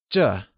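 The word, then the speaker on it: 这: This translates to Zhèand is pronounced using the falling tone. Can you try and say Zhè ?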